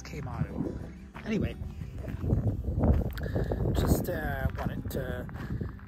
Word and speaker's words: Quemado: Mexico so we uh it's spelled with Cube but it's K motto anyway just uh wanted